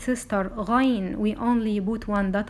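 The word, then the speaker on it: غين: This letter is ghayn. It is noon sound also at the end of this name.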